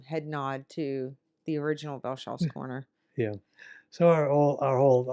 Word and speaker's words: Velchoff: And I've heard it Vehlchoffs. I mean, I know because I've asked, how do you pronounce it?